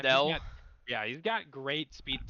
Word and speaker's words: Naganadel: Deoxys Attack, Iron Valiant, how do you say this? Nagel Dull, like Pokemon. Naganadel.